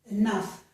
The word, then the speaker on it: enough: The letters GH are pronounced like an F, just as they are in the word cough.